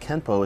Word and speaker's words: Kenpo: this would mean that Kempo is technically spelled with an N but should be pronounced with an M through romanization it is